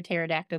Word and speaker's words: pterodactyl: can't you hear a pterodactyl go to the bathroom know this joke because the p is silent oh no yes stepback